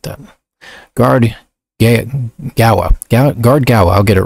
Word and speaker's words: Gaoa: Guard Gaoa. That's how I decided to pronounce it. Gaoa.